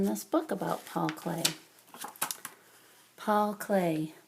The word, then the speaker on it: Klee: book about Paul clay Paul clay pronounced clay was born near Bern